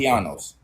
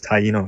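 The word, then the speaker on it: Taíno: Tianos. Yeah. It's not Tiano. Oh, There's no word pronounced Tiano.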